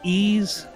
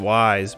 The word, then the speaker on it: Ys: of them look great and then you've got ease have you ever heard of ease yeah yep yeah I didn't know that's how you pronounced it I always pronounced it wise but evidently yeah good good good games played